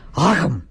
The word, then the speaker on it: Akam: Hang on, I got Jay Sherman coming and he wants me to pronounce that one wrestler's name correctly. Akam!